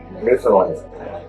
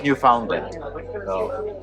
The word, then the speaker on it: Newfoundland: And what is the right way to pronounce New Finland? What do the locals call it? Newland. Not New Foundland.